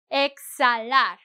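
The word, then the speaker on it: exhalar: Exalar I skip the H because it doesn't have a sound.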